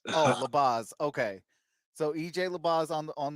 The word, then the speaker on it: Labaze: Labaze. Oh, Labaze.